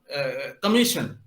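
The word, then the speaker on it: commission: जैसे कि आप कमीशन, तो वहां पर एस आई जो है वो श की तरह प्रोनाउंस हो रहा है।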